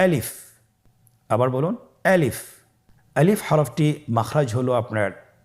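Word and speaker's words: ألف: আলিফ। আমাদেরকে বলতে হবে বলুন আলিফ। আলিফে কিন্তু কোন টান নেই। আপনারা বুঝতে পারতেছেন আমি যখন আলিফ বলছি এর মধ্যে কোন টান হবে না। আলিফ। আবার বলুন আলিফ।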